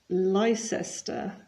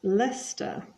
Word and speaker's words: Leicester: is always nil and you'll notice that it's not Tottenham but Tottenham and not Leicester but Lester Tottenham are winning one